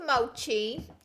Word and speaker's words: mochi: when I say him Moshi Moshi Moshi oh what's the thing so it's mochi and I was wrong no I hate shocking